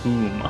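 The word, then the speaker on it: cwm: Okay, the Welsh word him, because it's popular in Scrabble, pronounced coom.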